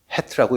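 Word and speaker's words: ח: 맨 오른쪽 글자는 헤트라고 읽습니다.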